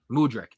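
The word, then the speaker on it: Mudryk: how Mur murck how do how's his name pronounced mudri mudri okay Jackson scores the hatrick he's two-on-one clearly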